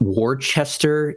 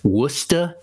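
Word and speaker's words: Worcester: accent apparently uh um it's not Worchester it's wora and the first time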